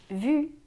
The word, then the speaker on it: vu: An example of the difference between U and OO can be between the words vous, which means you, and vu, which means seen.